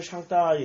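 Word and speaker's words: 上帝: 상제인데 중국어 발음은 샹따이 이렇게 발음을 할 거예요. 예, 샹따이로.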